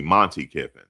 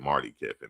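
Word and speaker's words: Monte Kiffin: Yeah, excuse me, Monty Kiffin. Thank you, Anthony. I said Marty Kiffin, Monty Kiffin.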